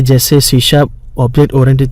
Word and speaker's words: C#: सी sharp is pronounced as सी sharp, SHARP, पर लिखने में है C#, और वो एक नई